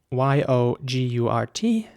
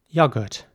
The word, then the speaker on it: yogurt: produce for the restaurant the next word is spelled y-o-g-u-r-t and in british english it would be pronounced yogurt so once again the o is more like a sound yogurt and in american english it would be more like yogurt so the o is very round once again yogurt yo